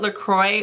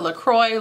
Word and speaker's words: Lacroix: the sparkly water or Lacroix like the actual French way that you pronounce it either way Charlotte somebody